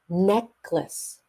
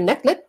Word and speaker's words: necklace: dokie okie doie necklace necklace there's an S sound at the end necklace okay necklace so if you leave off that sound neck what oh I like your necklet no it's necklace necklace so try it okay